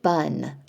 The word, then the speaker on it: bonne: And then if we look at bon, le fromage est bon, in the feminine form, we've doubled the E and the pronunciation is different. Bonne, la sauce est bonne.